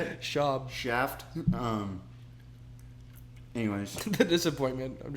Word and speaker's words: Schaub: Shout out Brendan Schwab. Schwab. Schwab. How do you say it? Schaub.